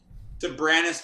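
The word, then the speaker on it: Soberanes: Lucia Wines, Sobranus Vineyard. Did I say that okay, Mark? Did I hit it right? Sobranus Vineyard, correct. It's an old Spanish land grant. And your pronunciation's getting right on.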